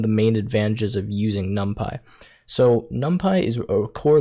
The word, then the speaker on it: NumPy: guys how to use the module Numpy, or NumPy, I believe that's how you say it, NumPy, within Python.